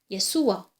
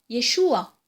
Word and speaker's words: Yeshua: Hein, exactement comme en hébreu, Yeshua ou Yeshua. Et le aïn final, comme je l'ai dit, est guttural, donc est un son difficile à prononcer.